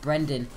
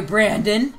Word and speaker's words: Brendan: I was like, yeah, it's only been 150 days of school, but yeah, it's pronounced Brendan. She goes, I'm sorry, Brandon.